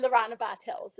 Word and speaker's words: Lorana Bartels: It's actually Lorana Bartels is how you pronounce it, but that's fine.